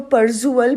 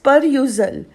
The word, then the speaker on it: perusal: परयूजल के स्पेलिंग ध्यान रखना बेटे, आप लोग इसमें जनरली SUAL कर देते हो एंड वो परजुअल बन जाता है, ये गलत है। इट इज़ परयूजल, PERUSAL, that is परयूजल।